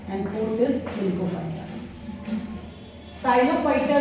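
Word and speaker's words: Psilophyta: इसके चार डिवीजन है प साइलेंट रहता है साइलो फाइटा दूसरा हमारा डिवीजन है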